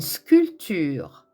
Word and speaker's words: sculpture: prononcer ce que exemple une sculpture attention le pé dans sculpture est muet une escalade un escalier